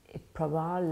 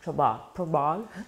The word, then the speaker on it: Prabal: He say like trouble, yeah. Prabal like trouble, Prabal.